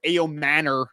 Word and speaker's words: Ayomanor: One guy that you just mentioned, Alec Ayomanor, Ayomanor is actually how you pronounce it.